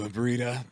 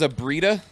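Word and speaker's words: Aibretta: my name's abrina hi nice to meet you abrida you may call me uh nice to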